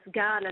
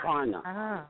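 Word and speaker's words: Kaurna: K is pronounced G.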